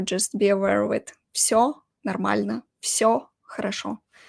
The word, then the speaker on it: всё: «Всё нормально», «Всё хорошо». We spell it like this, with the letter V, «всё». But actually, we pronounce it like «ф», «Всё хорошо», «Всё отлично», «Всё нормально».